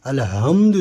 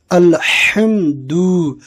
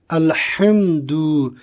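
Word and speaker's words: الحمد: যদি হা এর উচ্চারণের জায়গায় যদি হা এর উচ্চারণ করি আলহামদু যদি পড়ি তাহলে সমস্ত নিভে যাওয়া কার জন্য ভাই লিল্লাহি আল্লাহর জন্য তাই আমরা সেইদিকে লক্ষ্য রেখে সঠিক উচ্চারণ করে আমরা পড়বো কি আলহামদু আলহামদু সমস্ত প্রশংসা সকল প্রশংসা যাবতীয় প্রশংসা আলিফ লাম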